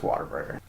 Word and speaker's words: Whataburger: Even though it's spelled W-H-A-T, say water. Yeah. Come on. It's Whataburger.